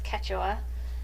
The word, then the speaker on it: Quechua: So if you're wondering how to pronounce it, it's Quechua, and it is so amazingly soft.